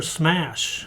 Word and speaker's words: Smash: She played for Smash, and that's exactly how you pronounce it.